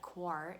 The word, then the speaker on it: coir: And as an alternative, there's coconut coir. It's also sometimes called coconut coir. It's spelled C-O-I-R, coconut coir.